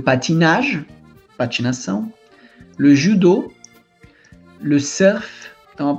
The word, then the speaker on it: surf: Le surf. Então a pronúncia aqui, ela não é com o U do francês, tá? Surf, vem do inglês mesmo.